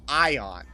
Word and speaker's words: aeon: And you're supposed to pronounce it Ion.